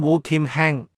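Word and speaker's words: 胡儉亨: 本人姓名胡儉亨，普通話讀音 UKNHNG，粵語讀音烏儉亨。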